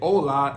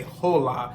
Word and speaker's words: hola: H or La Ace in Spanish you're not going to pronounce the h so that's the reason why we say hola and we don't say hola so I don't think